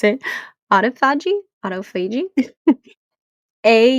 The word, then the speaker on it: autophagy: Autophagy. I think that's how you pronounce it. Autophagy.